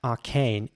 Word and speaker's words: arcane: saying this word again first of all arcane and he's the British English version arcane and again the British version is a little bit longer Arcane arcane now I'm not